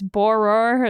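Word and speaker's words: Bohrer: to pronounce his name it's boror it's like b o a h r e r sorry to you if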